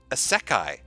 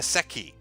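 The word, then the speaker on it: isekai: Santa from blue Satoshi it's pronounced a sekai not a Seki you can't tell me how to say nothing dr.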